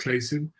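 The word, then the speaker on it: Clason: C L A S O N George Claym is pronounced Clayson.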